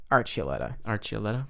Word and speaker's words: Archuleta: So Juan Archuleta, that's how you pronounce it. Archuleta.